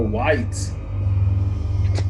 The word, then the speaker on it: wight: Shit, all we're gonna find is more whites. Might not. No, is that More tentacle WIGHT? Right? That's how you pronounce it.